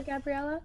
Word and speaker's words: Gabriela: Yeah, well, first of all, thank you so much for having me on here, Gabriela. Yeah. I don't know if I'm pronouncing your name.